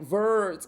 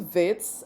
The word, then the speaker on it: Wits: have a twang and they'll be like, Verts, I go to Verts, which is absolutely ridiculous. Like, I don't know who pronounces Wits like that. So, yeah, I went to Wits and I was accepted